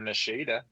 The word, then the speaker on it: Nishida: Nishida who I told you I even though I told I told everybody it rhymes with Bushido and nobody could guess